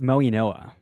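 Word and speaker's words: Mauigoa: Um, he's How is it pronounced? Francis what? It's Moy Noah. Moy Noah.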